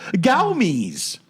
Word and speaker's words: Gomez: Okay, so her name is pronounced, obviously, Xochitl Gowmez.